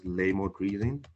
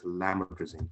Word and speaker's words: lamotrigine: what it is so it's not it's not pronounced as laymor greasing it's it's pronounced it's pronounced as lametrising okay so but since it's so lame that